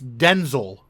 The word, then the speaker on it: Denzel: do you say it it's Denzel sounds like a tooth product apply some Denzel and